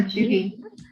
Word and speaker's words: cheugy: Yeah, Cheugy.